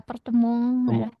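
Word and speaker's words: Appartement: yang tadi kan masih apa balkon jadi balkong ya balkong iya Prancis ya itu Prof. Iya betul. Diserap dari bahasa Prancis. Apartemen juga jadi apartemong.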